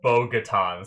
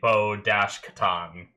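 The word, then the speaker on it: Bo-Katan: Um, I thought it said Bogatan, so I did it B O G A T A N. Um, but it's actually bo-ash katan, uh, for how you spell it.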